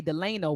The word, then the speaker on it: Delano: him some people say Delano but we pronounce my father's name Delano and so yeah we say Delano some people say Delano but it we say Delano but my grandmother named